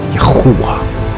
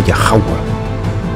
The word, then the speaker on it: Yahuwah: So with that being said, let's deal with the set-apart name, Yahuwah or Yahawah. Now I'm going to explain why both Yahuwah and Yahawah is correct with the name. But the name is not Jehovah.